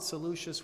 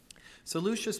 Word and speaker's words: Seleucus: I'm going to go with Seleucus because I believe the people who followed Seleucus were called Seleucids.